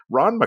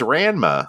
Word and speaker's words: Ranma: MC Comics oh and sorry and I'm I'm pronouncing it correctly now but with my Canadian accent where we only have like the most nasal vows was oh there's Ranma there's Ranma Comics I'm